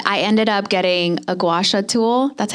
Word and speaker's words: gua sha: I still use it, but I ended up getting a gua sha tool.